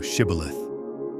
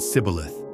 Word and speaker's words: Shibboleth: If he said, "Nay," then said they unto him, "Say now, Shibboleth." And he said, "Sibboleth," for he could not frame to pronounce it right.